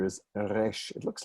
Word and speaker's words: resh: Again, we don't pronounce it resh or resh, but somewhere in the middle.